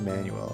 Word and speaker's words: Manuel: what you're saying because in Spanish when I hear Manuel it's always pronounced manual at least like Hispanic is how I usually hear it but yeah I can